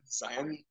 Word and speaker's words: Zion: I think the uh you're supposed to say it like Lion Zion if not you sound